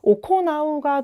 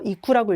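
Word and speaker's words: 行う: 오코나우가 동사의 기본형이고요. 행하다에서 이거 이쿠라고 읽지 않아요.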